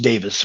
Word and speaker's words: Davies: were in Alabama Adam Davis by the way um it's it's spelled Davies but it's pronounced Davis which is kind of